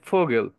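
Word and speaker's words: Vogel: শব্দে ব্যবহার করব তখন এটা আমাদের ফ এর মতো উচ্চারণ করতে হবে যেমন এখানে ফোগেল এটা ভোগেল হবে না কিন্তু এটা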